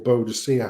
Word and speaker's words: Boadicea: And yet, people like Queen Boudica or Boadicea, however you want to pronounce it, in the time of, the Queen of the Iceni, absolutely loved and adored by their people.